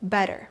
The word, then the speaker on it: better: Our next word is better. So, the textbook way to say it is better. No American will pronounce it like this. No native English-speaking American. So, instead, they'll say better. You try? Better. Again, those Ts soften into two Ds.